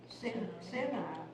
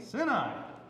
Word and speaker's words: Sinai: Sinai. Okay. Sinai. Yeah. Yes. Oh, really? Because it's actually how it's pronounced. The sin in the beginning of Sinai is the same as the sin by itself.